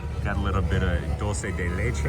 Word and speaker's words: dulce de leche: Got a little bit of dulce de leche right there. It's kind of like caramel. It is not pronounced douche de louche.